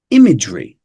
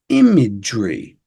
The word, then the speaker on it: imagery: next up we have imagery imagery imagery and the reason why I bring this one up is because of this G the j instead of a g and then instead of this this e almost disappears again there's a slight schwar in the middle but